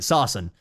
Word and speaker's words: Saracen: That's it, sarsen. You know, we use sarsens or whatever. And then the BIS would just be like, okay, adding sarsens, and they'd get paid like $20,000 to do it.